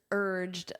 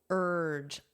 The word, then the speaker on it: urge: Trump and the leaders urged Zelensky. So the verb is to urge. Listen to that pronunciation, urge. So this beginning part, you don't really hear the vowel, you just hear the R sound.